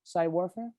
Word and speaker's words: Psywarfare: how you pronounce it psy warfare yeah like psychological warfare with psy warfare for sure okay and